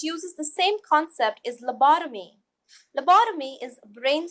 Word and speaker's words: lobotomy: bought of me and then let's combine it lobotomy it will be helpful if you pause the